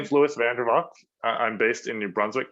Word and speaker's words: Vandervalk: up how do you say your last name vanderbot okay cool all right and we are going